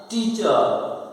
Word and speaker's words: teacher: TEACHER टीचर। तो ई कौन सा होगा? आई के साथ में बिंदी लगी, इसका मतलब बड़ी मात्रा है। तो टीचर और आर क्या रहेगा? साइलेंट रहेगा। ये रूल्स हमने पहले पढ़ लिया है। तो TESCHER को पढ़ेंगे टीचर।